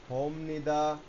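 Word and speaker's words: 봅니다: হদার ক্রিয়ামূল হচ্ছে হ এর নিচে কোন ভাচেম নাই তাহলে বি অফ নি দা উচ্চারণ কি দাড়াচ্ছে হোম নিদা এখানে মজার বিষয় হচ্ছে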